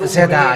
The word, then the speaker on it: Za: But because the salvation was in Madagascar, every ZA must mention that and call that ZA. Even though French or Togolese or Comorians or Malagasy must say that word ZA, because that is a Malagasy pronunciation.